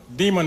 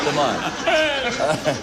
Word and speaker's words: Demond: are the next interesting turnab about John uh Demon Wilson that's M come back come come mind